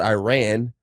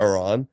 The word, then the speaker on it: Iran: to be a jerk Iran Iran and it's only because some of the Iranian journalists and players have been upset that people have been mispronouncing it so Iran go ahead Iran yeah they play the